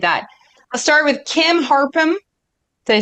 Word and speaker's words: Harpham: I'll start with Kim Harpham.